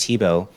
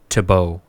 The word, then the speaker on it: Thibault: Your music in general, whether it's Minimum Chips or just Thibault.